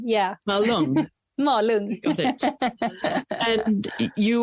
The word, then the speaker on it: Malung: Did I pronounce that correctly? Malung, yeah. Malung.